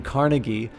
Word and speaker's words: Carnegie: you have figures like Andrew Carnegie or I think it's carnegi is the actual pronounce but you know who